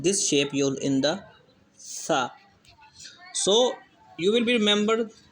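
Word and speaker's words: ث: Actually, some people pronounce this alphabet sa. They pronounce with the sound of whistle. Sa. This is wrong. When we pronounce, so we will pronounce to avoiding the sound of whistle. Sa. Okay. Sa. Sa. Not sa.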